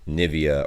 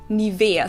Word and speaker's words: Nivea: of people pronounce it nivea or nevaeh here english native speakers usually say nivea yeah livia in german we say nivea nivea so the emphasis is on the e oh wait a